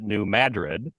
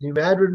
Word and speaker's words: New Madrid: actually we're talking about New Madrid correct badgered yes New Madrid Missouri yes spelled like Madrid pronounced funny though right you know the